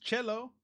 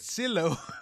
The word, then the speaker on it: cello: So you pronounce it, it's pronounced cello. I thought you said silo.